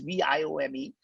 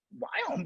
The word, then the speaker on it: Viome: It's Viome. By the way, Indians cannot pronounce the word we. I don't know why. And I named the company Biome because I can't pronounce it, right?